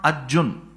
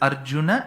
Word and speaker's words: Arjuna: a because in samam you should never ever complete the last letter by cutting half of its pronunciation it's not Arjun it's Arjun that akaram